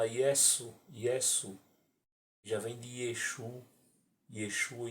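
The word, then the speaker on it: ישו: No hebraico moderno, o nome de Yeshua é escrito e pronunciado Yeshu.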